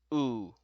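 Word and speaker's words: ㅜ: And this is pronounced as oo, oo. Very similar to English, like the letter U, so lowercase u, oo.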